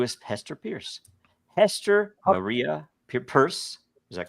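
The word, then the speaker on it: Peirce: hard names pronounce actually Hester Pierce has a weirdly it's easy to pronounce but a weirdly purse is actually how it's pronounced really oh really yeah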